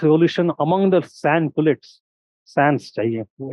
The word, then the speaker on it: sans: among the sand pets Sans s is not pronounce it is silent but it is there without and middle and peasants